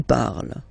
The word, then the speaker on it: parles: So you've got the two first forms, you pronounce them the same way. You write them differently, of course, because you've got here, and then you've got and s, okay, but then phonetically, they are the same.